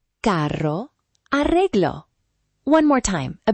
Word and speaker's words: carro: First, perro, carro, arreglo. Feel the light trill in the middle. Perro, carro, arreglo.